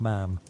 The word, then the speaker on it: ma'am: her deary instead of ma'am, even showing the proper way to say it by comparing it to spam.